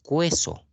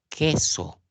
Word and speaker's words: queso: La U no suena. Tú no dices cueso, tú dices queso. Solamente está sonando la E.